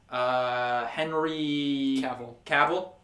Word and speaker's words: Cavill: the actor playing Superman Henry Cavill I was going to say cable but that was mispronounced it or maybe I mispronounced again Henry Cavill um